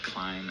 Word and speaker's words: climb: Why do words like climb and limb and thumb have a silent B in them?